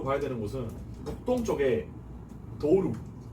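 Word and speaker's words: Douro: 이게 도우루라고 있는 이유는 그 이 포르투갈어는 모음이 끝에 나오면 변하는 특징이 있는 게 이를 진짜 이라고 읽고 오를 우라고 읽는 특징이 있어요. 그래서 도우로가 아니라 도우루라고 읽는 거고.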